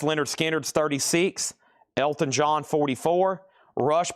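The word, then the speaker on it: Lynyrd Skynyrd: Rush fly by nights 36, pronounced Leonard Skard's 36, Elton John 44, Rush Permanent Waves 36, and a special request for Troy Robinson.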